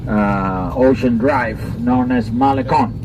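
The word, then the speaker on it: Malecón: ocean drive known as malecon be careful with the pronunciation right yes i'm not going to go deeply into the subject but it's malikon here the sea wall right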